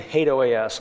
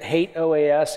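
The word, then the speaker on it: HATEOAS: a lot of capability I'm going to include hate OAS I know some people pronounce it differently those people are wrong I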